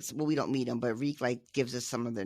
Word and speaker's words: Reek: they sort of drop Reek off. Sort of it rhymes with leak. Not with leaf.